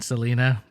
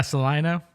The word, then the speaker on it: Salina: Salina, I wasn't sure how to say it. I kept saying Selena, but I didn't ever say it in front of anyone. I kind of waited till someone said, "Oh yeah, Salina."